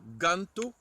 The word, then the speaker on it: ganto: Le G, le G qui se dit Ge, comme dans Ganto, pour un gant.